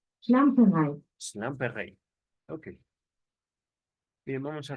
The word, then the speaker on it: Schlamperei: Ok, ¿cómo se pronuncia? Schlamperei.